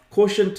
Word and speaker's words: QTNT: Quotient. That's how you pronounce it, right? It's spelled like a QTNT, right? Spelled QTNT. I actually trademarked that. What I did is I took the word quotient and I removed the vowels.